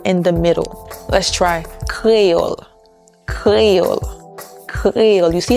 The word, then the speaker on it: Kreyòl: Let's try Kreyòl, Kreyòl, Kreyòl. You see how I'm smiling and my tongue is going to the back? I'm not saying Kreyòl, Kreyòl. I'm not saying Kreyòl, Kreyòl. I'm saying Kreyòl, Kreyòl.